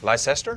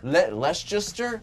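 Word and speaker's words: Leicester: he's from a town that I still cannot pronounce Lester Lester but I grew up not very far from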